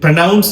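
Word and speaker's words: pronounce: வர்பாக வரும்போது சரி அப்படின்னு சொல்லி வினைச்சொல்லாக வரும்போது அதுல உச்சரிப்பு ப்ரனவன்ஸ் என்று வரும் ப்ரனவன்ஸ் ப்ரனவன்ஸ் பட் அது வர்ப் இது நவுன் நவுனாக வர டைம்ல ப்ரனன்சியேஷன் அப்படின்னு சொல்லுவோம்.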